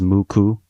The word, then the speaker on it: MUCC: six and the kanji for nine can be pronounced as muku.